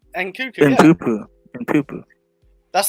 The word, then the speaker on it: Nkunku: If NKUNKU fails, like we have no hope of attackers, just no hope.